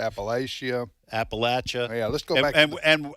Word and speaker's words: Appalachia: Well, you know how those Appalachian boys are.